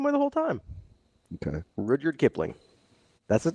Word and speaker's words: Rudyard: Right, and I'm pretty sure it's pronounced Rudyard. You just changed it again. No, it's been saying the same way the whole time. Okay. Rudyard Kipling.